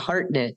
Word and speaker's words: Hartnett: I don't even know your last name really really it's it's a heartnet so I didn't know